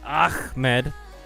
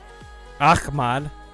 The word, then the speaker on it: Ahmad: named Ahmad I mean it's technically pronounced ah Med Ahmad but that looks like